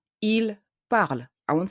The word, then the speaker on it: parlent: I will say ils parlent. I won't say ils parlent. I will say ils parlent. Parle is written ENT at the end, but I say parle, not parlons.